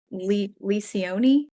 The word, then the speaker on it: Lencioni: I always pronounce his name wrong. Lencioni.